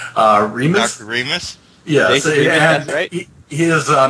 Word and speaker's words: Remes: uh God you just told me how to pronounce uh Remis Remis yes he is a mentor and assistant